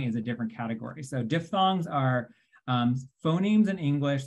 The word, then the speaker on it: diphthong: diphthongs or dip songs you can say it both ways but the technically correct way to say it was with an f sound diphthongs it's a greek word so the ph says the sound um so you could